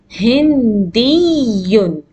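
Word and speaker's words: هندي: So you give a stress when you pronounce Hindiyun.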